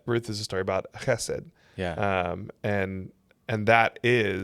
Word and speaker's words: hesed: You brought up that Ruth is a story about Hesed. Yeah. And and that is. Thank you for pronouncing it correctly.